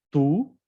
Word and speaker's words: tout: Tú, no se pronuncia como la T, tú.